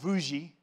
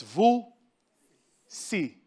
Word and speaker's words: Vusi: humanity is my name it's not vu g it's vu see two syllables very simple stitch together when we